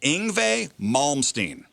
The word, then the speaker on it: Yngwie Malmsteen: It is pronounced Yngwie Malmsteen.